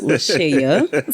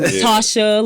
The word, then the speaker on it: LaShaya: So we have it, LaShaya. So it's spelled. A lot of people call you LaShaya, don't they? They call me LaShaya, Latasha, Latoya, so many other things.